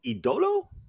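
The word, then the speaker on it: El Ídolo: Let's pronounce his name properly. So it's Andrade El mhm, Idolo. mhm. Idolo, the idol. Andrade El Idolo.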